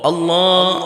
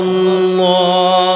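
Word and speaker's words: الله: এখানে কিন্তু একটা শেখার বিষয় আছে, যেমন অনেকেই আল্লাহ আল্লাহ এভাবে বলে। এটা আপনার প্রথমে কি হবে, আল্লাহ আপনি যে বলবেন প্রথমে আস্তে আস্তে হবে আল্লাহ আল্লাহ, এরপরে আবার কি হবে আল্লাহ আল্লাহ, এটা আস্তে আস্তে প্রথম লো দিয়ে শুরু করবেন, এরপরে হাই যাবে।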